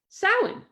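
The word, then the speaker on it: Samhain: Salin, spelled Sam Hayne, she said as if the syllables were actually the 27th and 28th letters of the alphabet.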